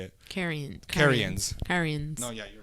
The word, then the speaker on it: Carians: Carians.